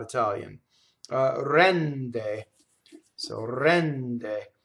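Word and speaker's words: rende: Rɛnde. So rɛnde. So the N is doubled, the E is open, the final E is closed.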